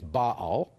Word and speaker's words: Baal: you don't mind I'll I'll use the Hebrew pronunciation which is Bal. Okay. Uh Bal is a generic uh universe of idolatrous forces that all pull in the same direction.